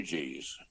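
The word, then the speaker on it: Huger: going to charleston and and reading about the ugs spelled h-u-g-e-r eugene oh okay i didn't know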